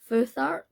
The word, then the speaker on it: Futhark: The Elder Futhark, Elder Futhark runes. I've been saying Furak like forever, so obviously I should have looked that up. So yeah, so the Elder Futhark runes, all about the